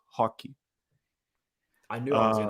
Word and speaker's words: Roque: to pronounce this name hockey it's actually like Rocky as in Rocky Balboa almost it's Vito hockey I knew I was